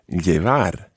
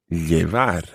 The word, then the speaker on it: llevar: and this verb is llevar. Llevar. Now, you should already be thinking, I know how to spell that, because the first sound, llevar, the first sound is double L.